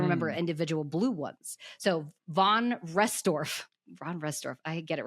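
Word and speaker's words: von Restorff: The von Rossdorf effect.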